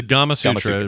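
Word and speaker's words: Gamasutra: said it out loud I read gamma sura rhymes with the thing it's based on so yeah there you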